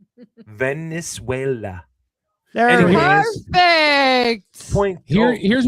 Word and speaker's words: Venezuela: Venezuela. That's what I said. That is not what you said. You're adding an That's what I I. said. Putting the Venezuela. emphasis on the wrong syllable. Venezuela.